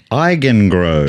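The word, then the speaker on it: Eigengrau: And the question is, what does the word eigengrow mean? Eigengrow? Eigengrow. Can you spell it, please?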